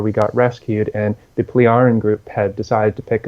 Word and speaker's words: Pleiaren: They were human looking, they were Nordic looking, and they were the Pleiaren group, pronounced that way, Pleiaren.